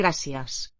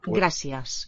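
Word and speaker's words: gràcies: How I'm interested in Gracias. what is the quality of the a, which is accented, the letter is, and the e in the second syllable. Gracias. Sounds like gracias. Very low sounding e.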